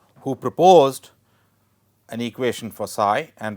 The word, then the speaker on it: psi: This is pronounced psi it is pronounce as psi, it is Greek letter.